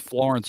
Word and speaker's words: Florence: It's actually pronounced Florence, y'all. Florence, y'all.